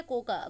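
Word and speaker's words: Cocoa: handle करेगी next है कोका कोकोवा अ ए silent है यहां पर ठीक है कोख खख बोलते हैं टच लेयर अ यह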